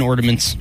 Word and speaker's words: ornaments: there's no d in ornaments there's no d in ornaments and he said he